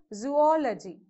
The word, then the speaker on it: zoology: four syllables here so again the stress mark will be in between these two o's okay so zoology that's how we pronounce